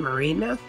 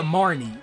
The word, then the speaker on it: Marnie: How do you pronounce her name, Marina? Oh yeah, Marnie.